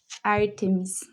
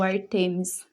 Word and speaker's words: Ártemis: Essa deusa é Ártemis, ou Artemis, né? Tem a diferença de pronúncias, eu falo Ártemis, então vou falar Ártemis aqui.